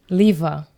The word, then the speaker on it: Lieve: And in Dutch, the E is pronounced as an A. So even though my name is spelled Lieve, it's pronounced Liva.